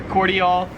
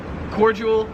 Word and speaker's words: cordial: but that's cordial or cordial. So yeah, in America, we pronounce it cordial, whereas here in Australia, it's pronounced cordial.